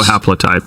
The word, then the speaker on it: haplotype: haplotype? Oh, haplotype, yeah.